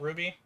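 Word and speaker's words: RWBY: I think her name is Ruby and and she's from a show called Ruby, but spelled with Rw B Y I think.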